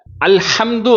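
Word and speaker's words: الحمد: அதுல அல்ஹம்து அப்படின்னு சொல்லும்போது இருக்கக்கூடிய ஹாவுக்கும் லில்லாஹி அப்படின்னு சொல்லக்கூடிய இருக்கக்கூடிய அந்த ஹாவுக்கும் வித்தியாசம் இருக்குது. ரெண்டுமே தமிழ்ல எழுதி பார்த்தா ஹான்னா தான் எழுதுவோம். ஆனா அரபு மொழியில உச்சரிக்கும் பொழுது ஹம்துன்னு சொல்லி அந்த ஹாவினுடைய உச்சரிப்பு வேற லில்லாஹி அப்படின்னு சொல்லும்போது இந்த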